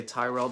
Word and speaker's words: Tyrrell: I say Tyrell because that's how they pronounce it in House Tyrell in the Song of Ice and Fire.